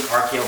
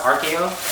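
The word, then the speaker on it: Archaeo: I picked up the Jordan 3 RKO Brown. I think they're pronounced RKO, A-R-C-H-A-E-O, RKO Browns.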